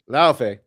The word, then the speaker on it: Laufey: God of War, is it Laufey or Luffy? Pronounce it for me. Laufey.